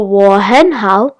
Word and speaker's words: 我很好: A fun way to remember 我很好 could be 我, then 很, like the animal, then how, like how are you?